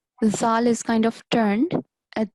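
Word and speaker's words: ذال: And do you know how to pronounce this letter? Z. Okay, not Z. So let me give you an example. So all of these are letter Zal and they have a vibrating sound, completely different from the letter Z.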